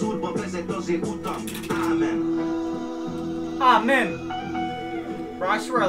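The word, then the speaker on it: ámen: Or, how do you say amen in Hungary? Amen, with a little over the A.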